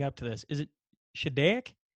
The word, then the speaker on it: Shediac: Is it Shediac? Shediac, New Brunswick. Actually, I was born. We were actually from Cap-Palais. It's a French little area, probably about, I'm going to say maybe 5 minutes outside of Shediac.